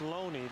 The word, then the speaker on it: Loney: Name is pronounced Loney. Last week, after last week's ball game, they were calling him Looney.